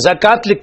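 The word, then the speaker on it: زكاة: है वा के साथ जकात पढ़ जाता लिखा जाता है वाव के साथ दोनों का पढ़ना जरूरी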